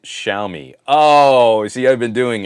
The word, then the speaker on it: Xiaomi: For Zitter, the X is pronounced SH like Xiaomi.